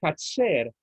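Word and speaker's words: חצר: Porque cuando el Señor utiliza allí la palabra camino, utiliza la palabra Hatzer, J-A-T-S-E-R, digamos, utilizándola, latinizándola, ¿no? Porque las letras judías son diferentes, pero para que entendamos cómo pronunciarlo. La palabra camino, la palabra Hatzer, también significa el atrio.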